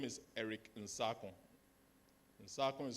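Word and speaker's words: Nsarkoh: Because again, I will breach the copyright and tell the students that my name is Eric Nsakon. Nsakon is spelled N-S-A-R-K-O-H.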